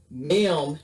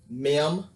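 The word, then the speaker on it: מ: mem has a final form and it's called a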